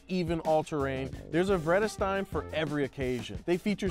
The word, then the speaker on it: Vredestein: Vredestein? Nope, it's Vredestein, and they're the name of today's sponsor. Hey, can you answer a question? How do you pronounce this? Vredestein? No, wrong, it's Vredestein. They've been Europe's premier first-class tire maker for over a century. Vredestein? Vredestein? Edestein. Yeah, it is steam.